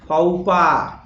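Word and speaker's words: faux pas: तो भैया इसको पढ़ा जाता है फाउपा। आया मजा? फाउपा ये अंग्रेजी है, ठीक है। Welcome to English land. फाउपा, FAUX silent है और इसमें S साइलेंट है, तो फाउपा पढ़ा जाता है।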